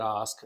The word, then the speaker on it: Ask: So if you just look for Osk, so my last name, of course, is spelled like ask. So if you're listening right now, it's Ask, Yeah. pronounced Osk.